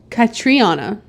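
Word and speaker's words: Catriona: the actress Catana Catana katriana I'm not sure how it's c a t r i o n a but it's also spelled with a K in the movie credits I noticed today U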